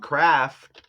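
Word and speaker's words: Kraft: I think of Bob Craft. And craft is kind of like aircraft, like spacecraft. You know what I'm saying? But it's just spelled with the K instead of a C, right?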